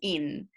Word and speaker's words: hin: aceite de oliva un hin. Y harás, o en español sería un in, sin pronunciar la H, y harás de ello el aceite de la santa unción.